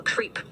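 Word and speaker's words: KREEP: they have a weird component that we call creep, and it's spelled K-R-E-E-P, and stands for potassium, rare earth elements, and phosphor.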